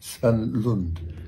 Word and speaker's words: Svanlund: I'll pronounce it right, Ken Svanlund.